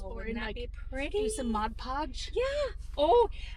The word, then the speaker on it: Mod Podge: do you say it Mod Podge not Modge Podge not Maj Podge okay sounds like your